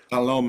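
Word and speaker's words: Salome: a large amount of power but your president salom Zoro BV is that how you say it salom yeah salom salom salom zor she is out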